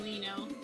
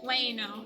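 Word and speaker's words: Ueno: Oh, I was saying Leno. Weno. Okay. Wayeno. That was close.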